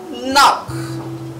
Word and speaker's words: knock: word is not knock the k is silent very easy it is knock knock knock good i